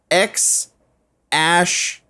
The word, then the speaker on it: X Æ A-12: this is over Twitter X ash which is the a and the e put together it's pronounced ash a twelve musk um and shirt a